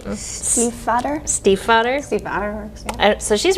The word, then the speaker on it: Stiefvater: STIEFVATER.